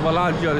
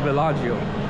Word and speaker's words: Villaggio: walking distance to this this is not vagio it's called vagio I pronounced it wrong